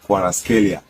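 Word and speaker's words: Kvaratskhelia: Normally the name is pronounced as Kwaraskelia.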